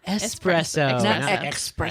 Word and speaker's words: espresso: is on the same page the word is pronounced espresso espresso that's like ax yeah yeah okay I'm